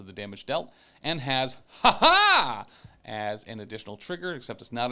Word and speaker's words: Ha-HA: And just very specifically, it is spelled H, lowercase a, hyphen, capital H, capital A. It is, you have to enunciate and emphasize the second ha like you're a fencer, as Nightcrawler is.